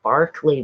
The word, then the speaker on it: Berkeley: the poets and philosophers in Berkeley and Berkeley California the one in England is called Berkeley but it's spelled the same anyway where was I